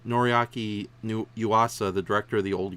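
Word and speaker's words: Noriaki Yuasa: psychopaths that they are tried to get uh norigaku damn said his name wrong noriaki new yuasa the director of the old gamer movies and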